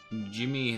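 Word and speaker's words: Djimmi: one I'm pretty sure Jimmy the great you don't pronounce the D in that right go for a plus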